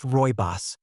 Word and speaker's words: Rooibos: Pronounced Royos, this vibrant red tea comes from a plant